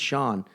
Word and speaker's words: Sean: you're like your name scene or like actually it's Sean but so many people print so many people pronounced it scene I love that more